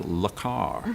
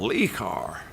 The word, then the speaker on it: Le Car: compact hatchback in America they marketed as la car in order to give it a kind of Parisian chic but he mispronounced it I said what car have you got he said I've got li car and so for you